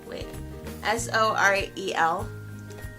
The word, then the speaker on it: Sorel: I don't know how you pronounce them, but they're S-O-R-E-L. Sorel. That's what I'm going with.